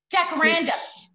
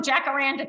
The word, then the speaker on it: jacaranda: jakarana is a spanish word and should be pronounced jacaranda dracoranda michelle you're cruel i can't pronounce things i don't know in in l.a we call them jacaranda trees so he says pronounce the j is